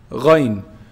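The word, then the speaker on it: غين: So ghayn is pronounced from the top part, the highest part of the throat, the closest to the mouth.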